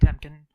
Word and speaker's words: Temkin: I am Temkin, or Temkin. My handle and my name are the same. Say either one, you'll get exactly the same pronunciation.